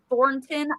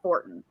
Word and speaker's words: Thornton: like because for me i always forget that it's thornton i pronounce it billy bob horton like t-h-o-r-t-n i don't pronounce it with an n in there um but so for